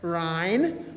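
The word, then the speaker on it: Rhyne: miss rhyme d-e-l-o-r-e-s ryan one syllable r-h-y-n-e and my name is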